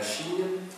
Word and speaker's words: Xi: la présidence de la Chine euh du président actuel qui est Xi Jinchin. Oui. Le X ça se prononce pratiquement chi hein.